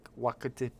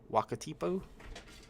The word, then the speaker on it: Wakatipu: Wakatipu? Any of you guys from New Zealand? Wakatipu seems right to me. But they spelled it Wakitipu. You can't spell it Wakitipu when it's Wakatipu. I'm killing myself.